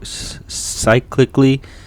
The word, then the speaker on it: cyclically: Cyclically is like cyclically, like cycle. Okay. It's spelled like cycle, so otherwise born again, associated with the sun.